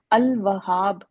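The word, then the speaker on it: الوهاب: लाम की आवाज आई निकली है ना? अलवहाब अल वहाब पढ़ा है आपने इसको। ऐसा नहीं है कि आपने लाम को साइलेंट कर दिया हो।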